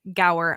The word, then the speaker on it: Gower: guest on today and his name is Brian Gower I hope I did not completely like just